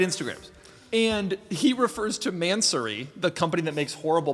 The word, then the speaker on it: Mansory: All right, so Mansory, and that's actually how it's pronounced, is man. The pause, I think, is optional, then sorry.